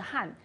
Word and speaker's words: 撼: 一个发音的，都是撼，撼卫，撼动，遗